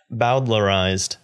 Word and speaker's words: bowdlerized: alright see ya I need to know how to say this word I'm sorry what is that bowdlerized so we could talk about this but it comes from Thomas bowdler gotcha that's a name